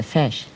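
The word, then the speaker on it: Feis: The fesh. You mean the fesh is F spelled F as in Frank E I S.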